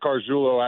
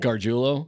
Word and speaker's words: Gargiulo: Oh, I'm saying it wrong, huh? I don't know. Yeah. No, you could be saying it right. Yeah, no. He said it the right way. I said it the wrong way.